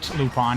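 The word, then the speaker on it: Lupin: lupon it's uh uh lupon the third pronounced l u p i n I'm pretty sure it's pronounced lupon um it's an anime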